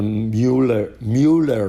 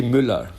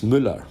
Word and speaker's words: Müller: You heard about the Mueller report, they say. But it's actually Müller. Müller. Oh, it's a German name. The U-I is Ü, and two L, so it's Müller.